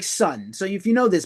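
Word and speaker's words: Sunn O))): Obi strip did come with a sun sticker, which I now can't find, but it's the sun logo. This logo, kind of cool. And the band is pronounced Sun and not Sun O.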